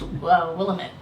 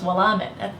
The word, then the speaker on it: Willamette: Davidine, drink, and I always thought it was pronounced Willamette. And they're like, no, it's Willamette. That's hard to, but no, yeah, Willamette, right?